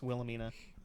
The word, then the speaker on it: Wilhelmina: head to be like oh it's willamena yeah um it's just it's spelled really it's spelled differently than um it uses wilhelm yeah sounds like the feminized version of wilhelm yeah now wilhelmina was